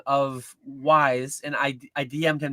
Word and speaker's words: Wise: It's not like we s like the card game. It's not Weiss. It's wise. He he said that you emphasize the Z like zebra. Like maybe you're taking it too much. Maybe you're going a little bit. But it's definitely a Z sound like zebra and not an S sound like snake. Um yeah, I say